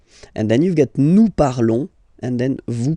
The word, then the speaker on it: parlons: Remember, final s is not pronounced, okay? And then this on together, they will give you the sound on, okay? Nous parlons, nous parlons.